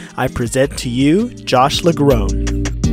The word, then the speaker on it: LaGrone: any further ado I present to you Josh LaGrone it's LaGrone right the groans yeah yeah I'm really impressed that you got it right I've heard LaGrone ei4 Lacroix so yeah LaGrone is good job oh I mean I could